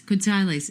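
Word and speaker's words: quetzales: yeah yeah yeah wait wait wait wait quales quales is how to pronounce the Guatemalan dollar okay and it's about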